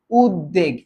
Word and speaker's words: উদ্বেগ: ব্যঞ্জনে বফলা থাকেও না তাহলে উচ্চারণেরটা কোনটা হবে উদ্বেগ এটা হবে উদবেগ উদবেগ এই যে এটা তাহলেসার